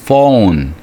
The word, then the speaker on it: phone: 그리고 his phone ph니까 발음이 F 발음이 나와서 phone이죠.